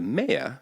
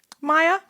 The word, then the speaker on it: Maya: civilizations of which the mayor who I'm going to talk about today Stand Out extremely prominently Maya Maya did I say mayor Maya it's spelled Maya but I of course